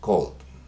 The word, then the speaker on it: called: Suena muy parecido, pero cuando yo estoy pronunciando estas, se escucha la D al final. Entonces, played, called.